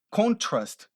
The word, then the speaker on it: contrast: Se você muda a pronúncia dessa palavra para contrast, olha a ênfase no final, contrast, o que acontece com essa palavra?